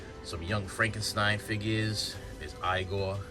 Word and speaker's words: Igor: There's Igor. It's Igor. It's pronounced Igor.